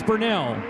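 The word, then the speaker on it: Bernal: 27W Ryan Burnell, who I said his name incorrectly for years because it's spelled B-E-R-N-A-L. And I said Burnell, and then I heard Gary out here announcing his name. He said Burnell, and I said, Gary's not wrong. So apparently I am. So I asked Ryan, and he said, yes, it's Burnell.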